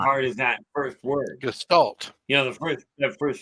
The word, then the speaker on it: Gestalt: Gestalt.